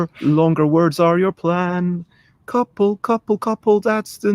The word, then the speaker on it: Coupell: Because it's meant to be pronounced the same way as the word couple, spelt Couple.